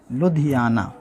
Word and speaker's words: لدھیانہ: سب سے پہلے ضلع کا نام لکھتے ہیں لدھیانہ۔ اس کا اسپیلنگ ہے لدھیانہ، لام اور یہ دال، دو